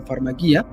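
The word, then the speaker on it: φαρμακεία: Entonces es lo caso porque, o sea, farmaqueia, que es la palabra en griego en este caso, que, bueno, algunos lo pronuncian como farmaquía, es la misma que da origen a la palabra farmacia, ¿no?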